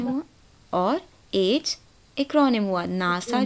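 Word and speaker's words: NASA: तो WHO abbreviation हुआ और एड्स एक्रोनिम हुआ, नासा जो हुआ वो एक्रोनिम हुआ, है ना, क्योंकि नासा अपने हर अल्फ़ाबेट को एक साथ लिया आपने, बट एक अलग साउंड भी तो बन गई, राइट।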